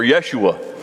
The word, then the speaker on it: Yeshua: a minute we think jesus the way we pronounce it we're totally wrong totally wrong it was really joshua or yeshua was the name there pretty cool all right